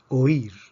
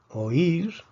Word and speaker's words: oír: palabras difíciles oír oír o ir tiene dos sílabas o ir vemos que aquí tenemos un hiato porque tenemos una vocal abierta con una vocal cerrada y la fuerza está sobre la vocal cerrada por lo tanto esto